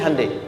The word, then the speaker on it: Hyundai: sana bikin Honda sini Handai hyundaikan dibacanya Handai sana Honda apapun yang